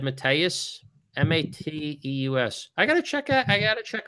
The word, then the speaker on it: Mateus: Yeah, he said Mateus.